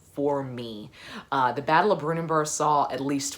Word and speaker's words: Brunanburh: That's the Battle of Brunanburh, which I have just recently learned is pronounced Brunanburh. I've always thought it was Brunanburh or something like that.